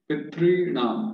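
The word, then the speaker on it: pitṝṇām: But we are not actually pronouncing this because our tongue is still touching the upper roof of the mouth cavity.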